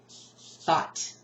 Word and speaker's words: thought: Thought. Goodness gracious. Thought. O-U-G-H-T. And any words that use the O-U-G-H, anyway, and then you've got this diagraph. I mean, this is pushing it. Pushing it, okay? But that's what we're doing. That's what makes us the big bucks, 4 a.m. Anyway, so, thought. That G, shh, thought.